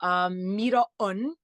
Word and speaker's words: Miró: Miró is how you pronounce it, but I kind of made it easier for people to pronounce the first part, Miró.